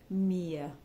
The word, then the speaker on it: mir: Mia iwriters m-e-a-r and it rhymes with near how we say the word near so Beast Do by mere next text freuden so